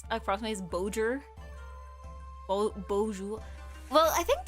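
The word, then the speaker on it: bonjour: But yeah, the best I can pronounce across is Bojer Bojour. Well, I think the J in French is softer, right? It's like bon like instead of like bonj, it's like I I can only describe it as softer, right?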